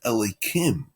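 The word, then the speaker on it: אלוהים: And now this is strange because the word itself is written Yud Kei Vav Kei, but it's pronounced Elokim.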